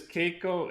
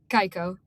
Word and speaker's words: Kaiko: so a while we're old well not really that's still pretty young but okay awesome and this this Keiko am I saying it right Keiko right kaiko kaiko sorry I'm mixing that up